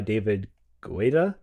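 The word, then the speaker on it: David Guetta: I didn't quite know what to sing, so I'll I'll pick uh Titanium by David Guita. That's how you say it.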